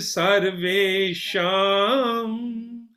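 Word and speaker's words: सर्वेषां: So this mantra, the word is sham, sarve, all sham. Om sarve sham.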